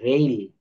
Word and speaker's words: rail: অর্থাৎ আই ও এর উচ্চারণ আইও হয়, আইও, আইও। Rule 14, RAIL, রেইল।